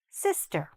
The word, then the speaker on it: sister: What happens is that some people don't say the i properly. They say it too long. But, actually this i is very short. So, repeat after me. Sister. Meet my sister. Okay? Sister. The stress is in the beginning and the i is very short. Not long.